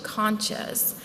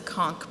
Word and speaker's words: conch: A side note, I learned recently that some people use a pronunciation conscious, but where I grew up on the Gulf Coast, we use the conchk pronunciation.